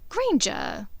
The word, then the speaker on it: Granger: Granger. It rhymes with danger, you know.